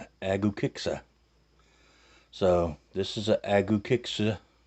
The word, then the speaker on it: Agukexsa: Now I did Google this, and it's Google says that you pronounce this Agukexsa.